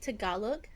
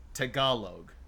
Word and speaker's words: Tagalog: T I keep Do you pronounce the G or not? Uh well, you do, but it's different. It's like Tagalog. Tagalogue.